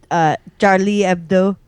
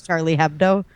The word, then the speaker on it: Charlie Hebdo: Like with Charlie Hebdo, which is how you're actually supposed to say that, but everyone says Charlie Hebdo.